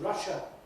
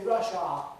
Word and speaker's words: Russia: In other words, it's Russia, with the schwa at the end, but they say Russia and make that A into a clear R vowel, which no native speaker does.